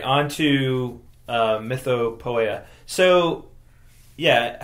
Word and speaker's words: Mythopoeia: say it like that then I think maybe it should be myth POA um maybe I'm just over pronouncing it there well poea makes you think of poetry right so it's a poem about myths right so mytha POA probably would be more close to what the